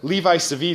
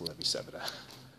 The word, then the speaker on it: Levi-Civita: Or Levi-Civita is what I learned to say before I was corrected. Different pronunciation for the same letters.